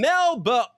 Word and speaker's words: Melbourne: Please welcome our very special guest today, dialing all the way in from Australia from Melba. Sorry, Nick told me to swallow the second syllable of Melbourne.